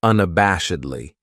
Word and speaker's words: unabashedly: Then we have unabashedly. This adverb has 5 syllables, and the stress is on that third syllable, that bash, unabashedly. That second syllable has that schwa, that sound, unabashedly.